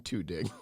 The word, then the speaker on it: Tudyk: I think Alan Tudyk is the new guy.